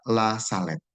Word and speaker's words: La Salette: Nah, La Salette itu apa? Jadi tulisannya memang La Salette, betul, tetapi membacanya itu sebenarnya La Salette tanpa E ya.